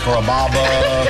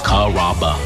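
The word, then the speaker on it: Carrabba's: Chom it up pretty good you know Kaba kababa Kura it's a really easy name to pronounce it's karaba come to kabas for dinner enjoy chicken marsala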